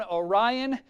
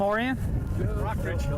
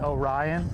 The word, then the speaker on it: Orion: sorry about what happened I pronounced it Oh Ryan on TV can you believe it